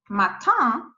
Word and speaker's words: matin: normal wobble like this you have this one matan but if i add the axon it is matinee matinee as you see